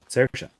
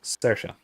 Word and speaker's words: Saoirse: Saoirse. It's the closest thing in English would be a combination of oi and a. It's Saoirse, which again isn't a thing.